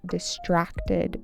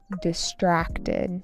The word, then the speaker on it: distracted: Her mother complained that Lawn seemed distant and distracted during family dinners. Distracted. Distracted with an emphasis on the second syllable.